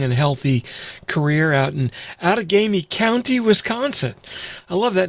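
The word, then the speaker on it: Outagamie: for a long and healthy career out in out of gamey county wisconsin i love that name out of gamey yo well you got the pronunciation right which is better than most what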